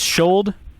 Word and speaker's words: Schuld: is it pronounced Schuld? Yes.